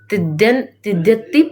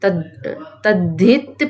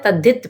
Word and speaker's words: तद्धित: अब हम पढ़ेंगे तिद्यति प्रत्यय, हाँ तद्धित प्रत्यय, है ना। प्रोनाउंसिएशन है तद्धित प्रत्यय।